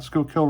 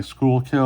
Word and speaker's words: Schuylkill: So you could say Schuylkill or Schuylkill. So however you want to pronounce it is what it is.